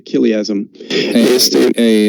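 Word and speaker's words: chiliasm: En inglés se dice kiliasm.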